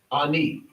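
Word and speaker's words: אני: So, you have the al if nun and the yo This is alf nun and yo ani. Ani is I. Okay. Another word. This is Ani. The way you would pronounce it, you don't have the yod here,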